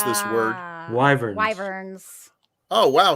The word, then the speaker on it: wyvern: Wyverns. Oh, wow. So there's no silent letters.